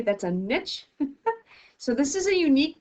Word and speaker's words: niche: communities become shaped so that word is pronounced niche not nietzsche that's a niche so this is a